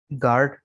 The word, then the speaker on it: guard: Rule number 6 में कह रहे हैं कि यू जो है ये साइलेंट है। यू is silent in the following words. दरअसल अल्फाज में यू साइलेंट है। गार्ड, बिस्किट, बिल्ड, गेस्ट, टंग, गिल्ट, गिटार, गैस।